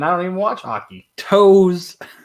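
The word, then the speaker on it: Toews: Toes. It's Toes. Okay, that's how you spell it. It's like just like Brett Favre.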